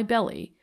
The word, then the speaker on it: Belly: name naturally arouses curiosity why belly was it not the anglo-saxon frontier's pronunciation of the frenchman's original bell the river remember is